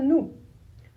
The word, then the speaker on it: nous: On le prononce nous. Le N se prononce N. Pas de surprise. O et U en français, ça fait le son ou. Le U tout seul fait U. Mais o et u fait ou toujours.